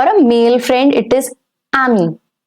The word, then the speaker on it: ami: For a male friend, it is ami. A-M-I. Ami. And for a female friend, it's going to be ami with the same pronunciation but with an extra E to it.